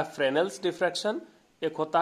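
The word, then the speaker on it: Fresnel: Diffraction पहला type हो गया फ्रेनेल डिफ्रैक्शन। इसको हिंदी में कहते हैं फ्रेनेल का विवर्तन, फ्रेनेल का विवर्तन। यहां एस जो है वो साइलेंट है, पढ़िए तो FRE, फ्रे एनियल नेल, फ्रेनेल्स डिफ्रैक्शन।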